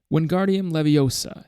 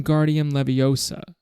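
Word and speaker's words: Wingardium Leviosa: having much more luck wardian Leviosa he shouted waving his long arms like a windmill you're saying it wrong Harry heard hermy snap it's when guardian Leviosa make the gar nice and long you do it then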